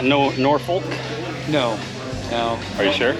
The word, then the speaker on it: Norfolk: everybody's dying to know is it nor fol or nor folk it's both actually the town is spelled